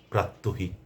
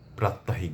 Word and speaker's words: প্রাত্যহিক: এমন কিছুকেই বলা হয় প্রাত্যহিক। আশা করি অর্থটি আপনাদের কাছে পরিষ্কার হয়েছে। আমরা কষনোই প্রাত্যাহিক বলবো না। এটি ভুল। ভুল উচ্চারণ করা চলবে না উপস্থাপনায় আমরা অবশ্যই শুদ্ধটিকে গ্রহণ করব আমরা বলব প্রাত্যহিক যেমন মহাসড়কে দুর্ঘটনা একটি